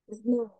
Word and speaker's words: snow: Snow. Snow. Snow. Okay, snow. Es como si fuera la O y la W se pronuncia como si fuera una U.